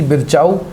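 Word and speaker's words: Virchow: बिरचाउ, या कुछ किताबें इसको बिरचो भी लिख के देती हैं, तो आपको तो उच्चारण लगभग में याद रखना, बिरचो या बिरचाउ।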